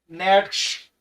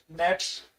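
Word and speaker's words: Nietzsche: एंड the German philosopher, इसके अलावा German philosopher थे फ्रेडरिक नेट्श, ये वही के नाम है, जर्मन था तो इसका नाम ऐसे होता है, स्पेलिंग याद कर लेना, Frederick नेट्स, although नाइदर actually used the term in their work.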